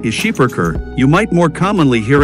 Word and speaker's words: Schipperke: given this breed's heritage although the proper pronunciation of the breed's name is scheiberker you might more commonly hear it pronounced skipperki especially in the united states the skipper keep